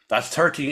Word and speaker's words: XIII: And that's 13.